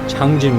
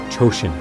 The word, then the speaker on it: Changjin: This is because, at the time, Changjin was marked on the maps using the Japanese pronunciation, Chosin.